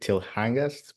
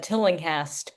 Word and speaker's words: Tillinghast: Is it Tilhangast? Please. It's the Tillinghast Beach. So Tillinghast.